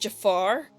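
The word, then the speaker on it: Djafar: They just dropped the D, it's just Jafar? Now I feel dumb. Okay, fine, I'll call it Jafar Tavern. Nice to know the D is silent.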